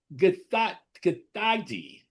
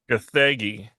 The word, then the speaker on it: Gathegi: David Cornsweet, Rachel Brosnahan, Nicholas Holt, Edie Gathagi. Gathegi.